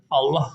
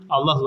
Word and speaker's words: Allah: ehlullah resulullahi resulullahi resulullahi Burada da ötre geldiği için arkadaşlar değil mi Allah lafzı kalın okunuyor yah yah esah